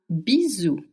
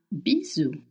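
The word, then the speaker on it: bisou: Now, if you want to send someone a little kiss, a bizu, a bizu, it's spelled b i s o u. And s between two vowels in French makes the sound z.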